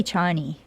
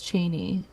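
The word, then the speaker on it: Chani: In the in the book, it's Cheney. Cheney. Really? That was It says that's that was Frank Herbert's intended pronunciation.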